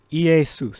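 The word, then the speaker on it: Ἰησοῦς: omicron up salon stigma so ea soos that's how you pronounce it all right and that's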